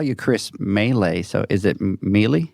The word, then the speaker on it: Mele: No, Mele is how we pronounce it.